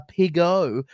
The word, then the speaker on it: Pigo: And I've been told how this is how I pronounce it. A Pigo. And he is Pigo.